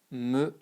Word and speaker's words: meringuée: But when you add this, it becomes tarte au citron meringuée. And there is a E here because this is the feminine form, but you don't pronounce it either, you know, you just say ge, e.